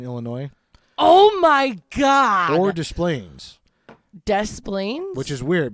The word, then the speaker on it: Des Plaines: Des Plaines. I think I say Desplain. That's how I say it. Desplains. I say it like quick, but I do say the S.